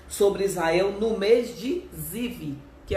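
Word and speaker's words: זיו: fala que foi nesse mês de Iá, ou na pronúncia, né, hebraica, Ziv.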